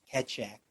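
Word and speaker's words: Keccak: and by the way I keep being reminded that it's pronounced ketchup ketchup if you're so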